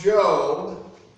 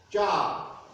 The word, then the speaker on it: Job: Our reading today comes from the book of Job, but because Hebrew has silent letters, not unlike French, it's pronounced Job rather than how it's spelled, Job.